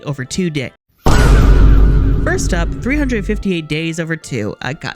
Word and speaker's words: 358/2 Days: First up, 358 days over two. I go, it's just the way it's formatted, too, cuz like days is after the two, but you're meant to pronounce the two after days.